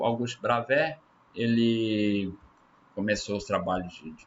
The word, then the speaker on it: Bravais: A gente fala Bravais, a gente lê aí como se escreve, mas como no francês essa terminação aí, né? Igual cidade de Calais não é Calais, né?